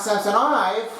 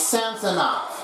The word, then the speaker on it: Samsonov: That is a hard name to pronounce it, but if you do it correctly, try to make sure you have it in there. Not Samsonov and not Samsonov. It's Samsonov. Make sure you have a correction.